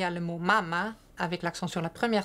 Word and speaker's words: mama: Donc, par exemple, il y a le mot mama avec l'accent sur la première syllabe qui veut dire sein, et le mot mama avec l'accent sur la deuxième syllabe qui veut dire maman.